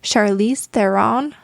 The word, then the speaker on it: Charlize Theron: a comic book with sure i can't never pronounce her name right charlize theron right yes you got it that's close enough